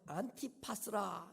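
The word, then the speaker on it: Ἀντίπας: 이 안디바는 헬라어로 안티파스라 이렇게 발음이 됩니다.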